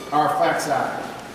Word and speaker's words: Arphaxad: This was our father Shem's son, Arphaxad, is how his name's pronounced here.